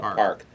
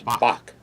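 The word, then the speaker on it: 박: But when Pelosi last visited South Korea in 2015, she met with then President of Korea, Park. We call it Park, but it's Bak, if you pronounce it in Korean.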